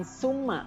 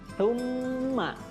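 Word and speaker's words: ثم: Tsumma ya, sa ya, cara membacanya lidahnya seperti digigit ya antara gigi atas dan gigi bawah. Jadi bukan summa, bukan sa, tapi tsumma.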